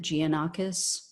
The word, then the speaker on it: Giannakis: Marios Giannakis, I believe is how you pronounce it, Giannakis.